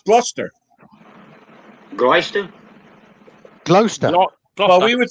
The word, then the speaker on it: Gloucester: He wants to know how to pronounce Gloucester. Gloucester. Well, we would say Gloucester in the U.S., but isn't it Gloucester? It's Gloucester.